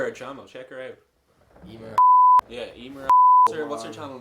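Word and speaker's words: Eimear: Emer.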